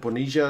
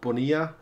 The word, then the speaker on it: Bonilla: Apparently in the Buenos Aires accent, Bonilla is the pronunciation, not Bonilla.